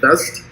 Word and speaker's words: Vezt: Is that how you say it? Vezt? Correct. Correct.